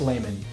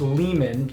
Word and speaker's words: Lehman: there and it's pronounced layman but it is not it's pronounced lehman like it's double e's man so let's split up